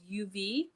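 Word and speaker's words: YOUV: their new company actually called uv um it's a it's a uv resin company but it's spelled y o u v and they have resin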